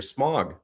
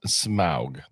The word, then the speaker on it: Smaug: Smog. Seriously? I believe it's pronounced Smaug.